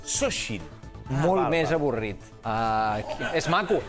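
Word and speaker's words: Xóchitl: veure, es diu així, però no es pronuncia Xochitl. Que és un nom que sona Xochitl, ja ho sé, sona de producte d'higiene femenina. Xochitl i a gaudir. No és això. Un moment. Morena i Xochitl? Sí. Sembla que han triat el nom de les candidates uns paletes que estaven fotent les obres. Queco, sisplau. Queco, sisplau. En realitat es pronuncia Xochitl. Xochitl.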